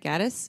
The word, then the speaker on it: Gaddis: Did I say it right, Gaddis? Yes. You got it.